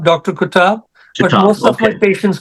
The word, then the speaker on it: Qutab: last name again doctor q u tab B kab Dr kab most of my patients call me Dr